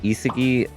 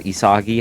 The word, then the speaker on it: Isagi: is going to be Isagi, or Isagi, however you want to pronounce it, Nagi, and Sei, or Sai.